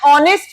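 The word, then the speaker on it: honest: नेक्स्ट, एन ऑनेस्ट मैन, एच is silent, ओ का sound आ रहा है, इट्स अ वाल, एन ऑनेस्ट मैन।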